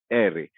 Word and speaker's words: ere: अब ये जो अंग्रेजी का आर है, हमारे स्पेनिश में आकर इसका नाम हो जाता है एरे और ये आवाज देता है र की।